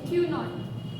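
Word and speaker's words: Cuénot: क्यू नॉट। क्यू नॉट क्या क्या spelling बताओ?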